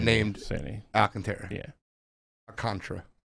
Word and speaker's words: Alcantara: Alcantara. I've been saying it wrong forever.